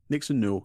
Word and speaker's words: Nixon Newell: It talks about her relationship with Tegan Knox, or Nixon Newell. Did I pronounce that correctly? Nixon Newell, yep, spot on.